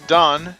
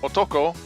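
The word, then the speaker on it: 男: It's often pronounced dan in a Chinese compound, or otoko when occurring alone or in part of a native Japanese word.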